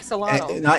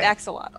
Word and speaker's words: axolotl: How do you pronounce what Richmond is? Like axolotl.